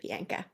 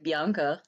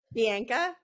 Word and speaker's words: Bianka: for joining me today Bianca thanks so much and so nice that you pronounced my name perfectly because most like Americans or Canadians say like Bianca so I love that Bianca is perfect it's perfect um okay